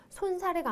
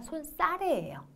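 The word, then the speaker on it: 손사래: 발음에도 주의하셔야 됩니다 자 발음은요 손 사례가 아니라 손싸래요 아시겠죠 자 그래서 요거 기억하시고요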